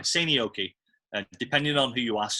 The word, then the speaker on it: Seinäjoki: Yeah, I think the J is silent J. Silent. Yeah, kind of silent. It's more like a Y. Seinäjoki.